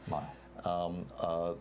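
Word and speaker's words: Lyell: I think it's Lyle is his name, it's pronounced? Lyle.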